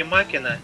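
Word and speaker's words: Machina: а Макина Макина читается Ну Экс машина - это блин Это неправильное произношение Это же не английский язык по-латински Макина Это я не помню На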